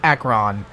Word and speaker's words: Acheron: we're doing part two entitled the shores of Akron and I had to look that one up